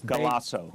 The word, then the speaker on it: Galasso: Can you spell that? Galasso. And the company that the crane? G-A-L-A. And it's Galasso.